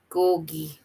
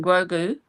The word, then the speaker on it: Grogu: And Timmy said, Gorgy. Oh, that's the little Yoda one. You know, the little baby one. His Oh, name, Grogu.